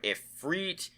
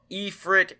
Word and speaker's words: Ifrit: name, please note that I've heard it pronounced many different ways by different people. I've heard Ifrit, Ifrit, and Ifrit, all of which seem viable.